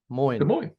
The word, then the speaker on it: Des Moines: Like, I found a lucky coin in Des Moines because coin rhymes with Moines. Moines.